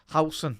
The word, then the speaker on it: Howson: Howson, that's how you properly say it, chat.